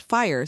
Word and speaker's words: FHIR: what exactly is fire fhi pronounced fire stands for fast Healthcare